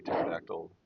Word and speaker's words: pterodactyl: Do you know that's why you never hear a pterodactyl when it's urinating? Right? Because the P is silent.